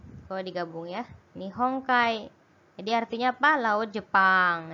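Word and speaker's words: 日本海: Nihong Kai. Jadi artinya apa? Laut Jepang ya. Kemudian ada digabung juga berarti bacanya Kai.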